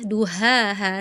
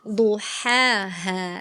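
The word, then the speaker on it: ضحاها: Tadi kata kakak bacanya duhaha, sama ya, harusnya bedain, duhaha, seperti itu ya kak ya.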